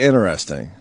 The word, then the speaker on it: interesting: that too what because I don't pronounce the T and interesting say it again I